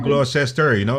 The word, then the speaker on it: Gloucester: Gloucester, Gloucester ho ang pronunciation nila, no?